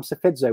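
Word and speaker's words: Psephizo: I'm Sefidzo with a silent P.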